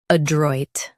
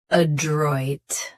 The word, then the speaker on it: adroit: Today we will learn how to pronounce the word shown on the screen. Adroid. Both US and UK have the same pronunciation of this word. Stress droid. Keep a very light. Adroid.